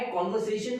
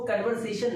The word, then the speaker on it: conversation: ध्यान रखिए इस वर्ड को कन्वर्सेशन नहीं कॉन्वर्सेशन यानी कि सही प्रोनाउंसिएशन है कॉन्वर्सेशन, इस तरह से बोलते हैं कॉन्वर्सेशन।